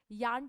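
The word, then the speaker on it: Jahn: यान टेलर बोलते हैं करेक्ट प्रोनाउंसिएशन, हम इसे जॉन टेलर बोल देते हैं.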